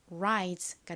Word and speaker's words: rise: 근데 끝 모음이 E이니까 첫 번째 모음은 장모음 소리 I 소리가 나는 거죠. 연결하면 rise가 됩니다. R의 뒤에 I가 나왔으니까 정확히는 rise 이렇게 발음이 되죠.